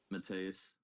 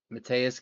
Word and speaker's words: Mateus: Mateus. Mateus Gamrot.